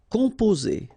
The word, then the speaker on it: composer: Okay, O and M together, after that a consonant, so it's the nasal on. Composer. Okay, you pronounce it Z here because you've got two vowels and only one S. Composer.